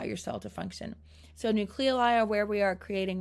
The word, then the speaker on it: nucleoli: There's also nucleoli in the nucleus. You will see that word pronounced a lot of different ways, but nucleoli or nucleolus.